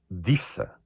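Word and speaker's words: Desa: Há um nome que eu também acho muito interessante, que é um D-E-S-A. Pronuncia-se Dissa. Era de Sá.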